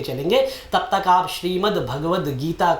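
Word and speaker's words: भगवद्गीता: महापुराण में फर्क करें भागवत गीता नहीं होता है उच्चारण गलत हो जाता है भगवत गीता होता है और भागवत महापुराण होता है तो इन्हीं शब्दों के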